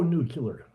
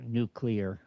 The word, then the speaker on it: nuclear: I'm very pro- nuclear. Uh, did I say that right, Kim? Kim's always corrected me on my pronunciation of nuclear. No, it's actually uh nuclear. Nuclear. Uh, I I am prou nuclear.